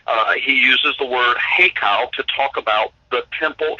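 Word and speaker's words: היכל: it's actually it's an Aramaic word and it's pronounced heo heo and and h e y k a l heo all right now this word means a palace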